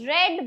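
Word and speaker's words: read: शी रीड्स अ नवेल। अ नवेल इज़ रेड बाय हर। देखिए रीड और रीड का स्पेलिंग दोनों सेम ही होता है। लेकिन प्रोनंसिएशन वी2 एंड वी3 में चेंज हो जाएगा।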